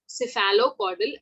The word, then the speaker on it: cephalocaudal: ठीक है, तो दिशा क्या होगी, एक तो होता है सिफेलोकॉर्डल। ठीक है, इसको कैसे प्रोनाउंस करते हैं, सीफेलो, इसको ब्रेक कर दीजिए यहाँ से, फिर कॉर्डल। ओके, सिफेलोकॉर्डल, एंड दूसरी इज प्रॉक्सीमो डिस्टल, प्रॉक्सिमो डिस्टल।